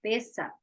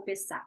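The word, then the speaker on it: Pesach: Quando você vê no hebraico, a pronúncia é diferente. Pessa ou pessá, né?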